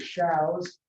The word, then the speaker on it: Shows: Shows, S-H-O-W-S, pronounced like cows.